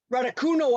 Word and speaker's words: Raducanu: the 18-year-old from Britain, Emma Raducanu, I believe is how you say it.